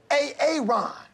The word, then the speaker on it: Aaron: you say it the first time I said A-A-Ron? Because it's pronounced Aaron?